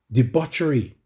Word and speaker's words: debauchery: Do not get drunk on wine, which leads to debauchery.